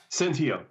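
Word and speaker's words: Senteio: Is it Centillo? Just pronounce the last name, Doc. Centillo. Centillo, got it.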